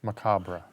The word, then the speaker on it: macabre: Mac how do you say that word loss macabre yes that one see on page 179 he